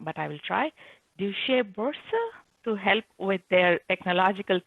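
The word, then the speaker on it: Deutsche Börse: So Christoph, please help me correct if I pronounce the company name wrong. Okay, the company name is the Deutsche Boerse.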